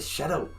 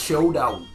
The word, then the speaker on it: Showdown: I always say Shadow. It's showdown. It's not that hard.